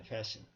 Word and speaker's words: fasten: fasten. 맞나? fasten. S-T. T는 묵음입니다. 그러니까 fasten이야. 그런데 그런 모든 것을 fastener라고 그래요.